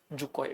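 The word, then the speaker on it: Dzükou: आपकी ये वैली है जुकोय, डी साइलेंट होता है इसमें, जुकोय, जुकोय वैली।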